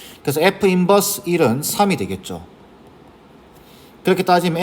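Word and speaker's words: f⁻¹: 이걸 F 인버스, 마이너스 1승처럼 보이지만 마이너스 1승 아닙니다. 인버스라고 읽어주는 거예요.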